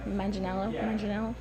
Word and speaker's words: Manganiello: Yeah, I think my favorite was Richie, Joe Manganiello. I don't know how to say his last name. Manganiello. Yeah, That's what you want to say? I think that's how it is because it's Italian, isn't it?